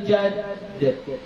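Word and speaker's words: جدّ: Cara baca jadd itu qalqalah akbar. Ya, jadi jangan minkal jadd. Salah. Kenapa? Karena dalnya di situ ada tasydid, ada tasydidnya. Jadi wala yanfa'u dzal jaddi minkal jadd. Ditahan sedikit.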